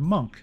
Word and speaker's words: monk: but here's a question why spell it m o n k when it sounds more like m n k well it used to be spelled with a u but was changed because in Old Gothic scripts m u and N looked almost identical so the U was